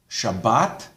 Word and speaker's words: Shabbat: However, if the Tav does not have a dot, in an Ashkenazi pronunciation, it's pronounced like an S. So that's why Shabbat, Shabbos.